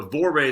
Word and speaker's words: vorrei: So you say it like, so vorrei is some word in Italian, and she's like, that's how she taught herself. Vorrei. You keep saying that, and I can feel my tongue.